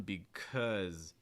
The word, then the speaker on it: because: this too though um because because so it's not because it's because because or the last word